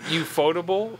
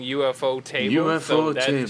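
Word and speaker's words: ufotable: ufo table yeah so everyone like it's always pronounced as you foldable but i heard a japanese interview about the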